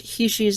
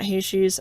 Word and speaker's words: heishi: So, there's a ton of different bead caps or what I've learned to pronounce heishi's not heishi's.